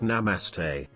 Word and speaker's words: namaste: speaking their own language she was pronouncing it completely wrong between gasps of breath my friend managed to say it's pronounced namaste at that the entitled